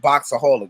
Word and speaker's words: Boxaholic: It's called Boxaholic. Make sure y'all go subscribe. It's spelled BOXAHOLIC.